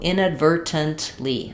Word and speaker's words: inadvertently: Okay, so what's happening here is that I can do inadvertently. I can do these T sounds. People will do that inadvertently. But sounds more British. Americans tend to use unreleased T here, and they just say the ver and the n.